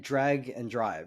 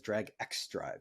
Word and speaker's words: Drag x Drive: Um but I like I so I played Drag and Drive, which people may think of as Drag X Drive cuz of how it's spelled.